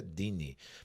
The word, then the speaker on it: Deane: Leônidas e Maria Dini tá escrito deanne mas a pronúncia Dini Muito obrigado inclusive por